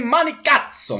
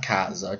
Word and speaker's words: Manicazzo: Well, first of all, you mispronounced my name. It's Manicazzo, not Cazzo.